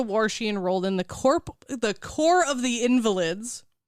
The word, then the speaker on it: Corps: And then after the war, she enrolled in the Corps of the Invalids. I thought you were going to say the corpse of the I was Invalids. going to say corpse because that's how it's spelled.